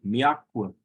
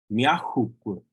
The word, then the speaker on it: miakwe: Oftentimes you might hear speakers, even when referring to the future, notice that verb, miakwe, they'll pronounce it like this. Miahukwe.